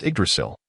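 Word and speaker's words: Yggdrasil: The game same pronounced Idrasil indeed referred to the dead world tree near the Golden Palace.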